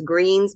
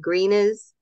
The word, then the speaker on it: Greenes: beds called they it's it looks like it's greens but it's they pronounce it greenes g r n Nees